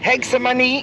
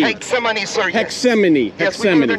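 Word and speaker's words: Getsemaní: old city and hey arthur how do you pronounce this section of the city oh right now we're going to have the hexamoney graffiti proximity hexamini thank you guys can you tell us your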